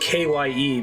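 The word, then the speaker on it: χ-blade: on apparently with the kai blade pronounced kye because kye kind of looks like key that was on purpose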